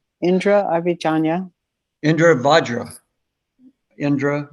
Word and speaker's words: Vajra: Sometimes you'll pronounce it Abhijanya, but I think both are Okay. correct. Indra, Avijanya. Indra Vajra. Indra Vajra.